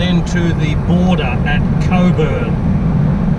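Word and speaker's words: Cockburn: to the border at Coburg or as some people might pronounce it cockpur per single tree they're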